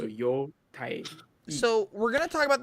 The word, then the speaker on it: Yotei: I mean, cares, you know, normal like hiragana, it's two syllables, like two letters. So yo tai.